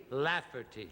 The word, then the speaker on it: Lafferty: Very easy. 3 syllables. La. La. Fur. Fur. Tea. Tea. Lafferty.